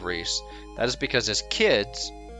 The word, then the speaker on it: Rhys: castle Prince Rhys uh now if I ever say rice instead of Rhys that is because his